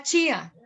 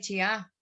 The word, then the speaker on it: Chía: Las palabras que normalmente vienen de las tribus indígenas del altiplano cundiboyacense siempre tienen el acento sobre la primera sílaba, nunca sobre la segunda. Uno, por ejemplo, habla del zipa, no habla del zipá. Uno habla de chía, no habla de chiá.